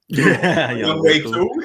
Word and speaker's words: Younghoe Koo: Younghoe Koo.